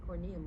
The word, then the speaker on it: corneum: epidermis in this example corn and corneum rhymes with corn providing an easy way